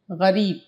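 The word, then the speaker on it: غریب: तो देखिए गरीब, गैन रे, गैन ज़बर गा, रे ये ज़र्री, ये का शोशा लिया फिर बे बना दिया, गरीब।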